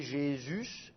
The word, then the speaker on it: Jésus: ça devient J et le U il est prononcé U et pas ou donc ça fait Jésus et puis d'ailleurs on